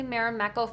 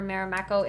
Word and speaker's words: Marimekko: do you sell the fabric um that's actually marameko fabric i purchased it on etsy um if you just do a search on etsy for marimekko it's spelled r-m-a-r-i-m-e-k-k-o i think that's the correct